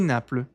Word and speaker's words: Naples: E Naples. Não se pronuncia esse S de Nápoles.